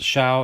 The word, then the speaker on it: Show: people it looks like show but it is pronounced shao as in shout so that's uh that's